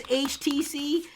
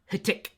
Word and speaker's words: HTC: uh two of you it's HTC not htic htic is not how you pronounce this word it is it is HTC HTC HTC if you're from the UK or Australia not hitk uh we also have